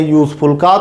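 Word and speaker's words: useful: Alphabet का Wavell है, और जब प्रोनाउंसिएशन करते हैं यूजफुल का तो हमें हिंदी वर्णमाला के या अक्षर से इसका उच्चारण मिलता है, और या जो है वो हिंदी वर्णमाला का किस में आता है, व्यंजन में आता।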